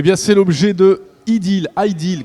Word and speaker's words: Ideel: c'est l'objet de l'idylle highdeal quand on prononce idylle idylle idée de the hell